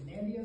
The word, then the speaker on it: Nandia: to learn how to spell her last name, to pronounce it, giving directions to go to India, except that your destination is Nandia, so you say go right to Nandia, which I think is a very helpful explanation.